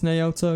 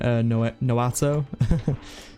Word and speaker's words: Naoto: I think it's Naoto, is that how you pronounce it? Because I think I've been pronouncing it Noato. So you guys did let me know but I was saying it wrong, which I knew I